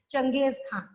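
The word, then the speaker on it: Genghis Khan: नाम बोला जाता है स्पेलिंग है जी एन जी एच आई एस लेकिन प्रोनंसिएशन क्या बोलते हैं लोग चंगेज खान सो the Mongol under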